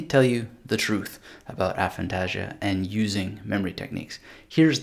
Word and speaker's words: aphantasia: thought that you have aphantasia or aphantasia as it sometimes pronounce which is the inability